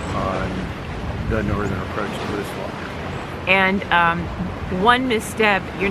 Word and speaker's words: Moosilauke: And by the way, we've been coached by a local that it is pronounced Moosilauke. We'll see how that goes over. Yeah. Hey, hike your own hike. That's right. If you Google it, it'll say it can be pronounced either way, Moosilauke or Moosilauke, but the locals pronounce it Moosilauke.